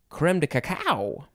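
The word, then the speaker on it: crème de cacao: coco and then you can also pronounce it creme or cream cacaico i have never heard of that one i've only heard of the first two but you can say creme de caco it is spelled creme second word d e third word c a c a o i like to say creme de cacao it is a noun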